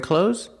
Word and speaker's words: clothes: you are you wearing clothes that's good pronunciation clothes use the long o like no and go clo and the Z sound like Zebra z clo clothes I'm wearing clothes pronunciation